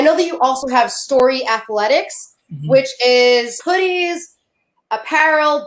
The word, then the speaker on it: Storyi: So it's Storyi, like a story, but he spells it Y-I, like his last name.